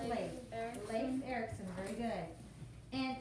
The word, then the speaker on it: Leif: He's pronounced Leif.